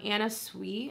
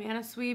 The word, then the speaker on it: Anna Sui: So I'll leave that down below, from Anna Sui.